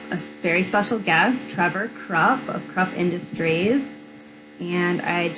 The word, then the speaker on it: Kropf: My name is Trevor Kropf, pronounced like K-R-U-P, if you will. The F is silent at the end, so I know that's mispronounced a little bit.